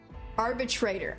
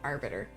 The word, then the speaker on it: Arbitrator: It's Arbitrator. I keep saying Arbiter. I'm thinking Halo.